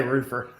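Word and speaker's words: Roofr: This is brought to you by Ascend Digital and Roofar. Hunter, how do you say it? I say roofer.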